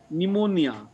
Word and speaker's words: pneumonia: Pneumatic, pneumonia. The P is silent there, right?